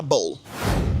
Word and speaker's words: bowl: Donc, le W ici, il est muet, hein? Donc, on dira bowl.